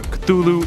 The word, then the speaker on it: Cthulhu: properly spoken by humans however the easier form Cthulhu is more prevalent so that's what I'll be